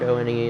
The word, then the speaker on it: ONE: Avalarian, I think O-N-E is pronounced exactly like the number one.